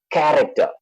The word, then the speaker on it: character: The first for cherry is ch. The second is k. Character. The third one is sh. Same alphabet, but then the sounds are different.